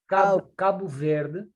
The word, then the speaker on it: Cabo Verde: Cabo Verde.